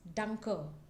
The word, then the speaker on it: danke: One is danke.